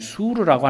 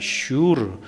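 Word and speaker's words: שור: 모세가 인도한 곳은 어디였냐면 광야의 이름이 수르라고 하는 곳입니다. 술 광야, 수르 광야. 성경엔 이렇게 표현이 되어 있는데 정확한 발음은 슈르입니다. 슈르.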